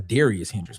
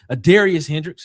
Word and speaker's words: Adarius Hendricks: Is that Is that No, that's a Darius Hendrickx. My bad. I was saying that wrong. Adarius Hendricks, shout out to you, my guy.